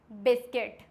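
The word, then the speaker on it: biscuit: For example गाइल, गाइल्ड, guilt, guitar, guard, बिस्किट। इसमें क्या है? आई है तो साइलेंट हो गया, ए है तो भी साइलेंट हो गया, आई है तो भी साइलेंट हो गया, क्योंकि ये सारे वॉयल्स हैं।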